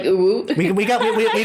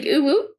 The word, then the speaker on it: U'wu: We can spell it funny so that it sounds like a real town, but like really you pronounce it like uwu.